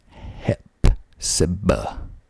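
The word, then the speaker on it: Hephzibah: been to royville either Heep HEPA spelled h e p h z i b a h Hep Saba that's that's a weird one this is another favorite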